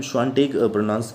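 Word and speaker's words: Świątek: इसे हम Swiatek pronounce करेंगे बिकॉज ये Swiatek नहीं होता है।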